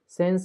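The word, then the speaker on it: 先生: ए वाली लाइन के वर्ड के बाद अगर इ आएगा तो इ साइलेंट रहेगा। ठीक है? यह चीज ना आपके ना प्रोनाउंसिएशन को अच्छा करेंगे। जैसे सेंस से ही नहीं होता। सेंसे गा से ही नहीं होता। ग से ठीक है?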